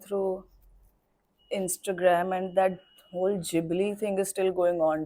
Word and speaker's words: Ghibli: When he wrote it in Japanese and the way he said it was, I'm not going to have the correct pronunciation, but Ghibli. Okay, so Ghibli. So that is what he said, and that is how you say it in Japanese. In Italian, you will say Ghibli.